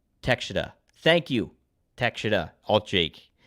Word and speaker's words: Takeshita: It's Takeshita.